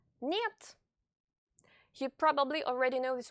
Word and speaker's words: Нет: This letter, which is written like in English H, is pronounced N in Russian. Нет.